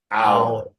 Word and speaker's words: hour: Hour.